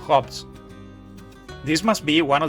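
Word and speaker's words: خبز: Khobz is a generic term for bread in Arabic. It's actually pronounced khubz in the Middle East, but the version I'm making here is Maghrebi, and more specifically Moroccan.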